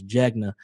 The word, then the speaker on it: Jegna: They say Jenga like the board game, but it's Jegna.